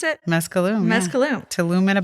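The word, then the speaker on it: Mezcalum: Let's talk about mezcaloom. Yeah. Is that how you pronounce it? Mescaloom.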